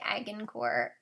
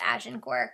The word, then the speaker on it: Agincourt: I know that word looks like Agincourt, but it's pronounced Agincourt because it's French.